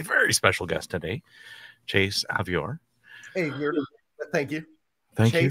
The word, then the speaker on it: Avior: special guest today chase avior hey thank you thank you thank you rhymes with behavior right bad behavior naughty